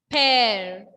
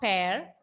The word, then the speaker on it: père: Père. Père. Not pair. Père.